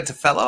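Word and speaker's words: Cefalo: it again um uh it's to fellow i think is how you say it but it's spelled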